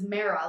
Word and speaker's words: Mara: limo and being like my name's mara like marinara yes but now marinara